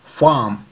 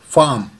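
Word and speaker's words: farm: यहाँ पे भी आर जो हम बोलते हैं वो साउंड साइलेंट है, तो इसका प्रोनाउंसिएशन होगा फार्म, फार्म।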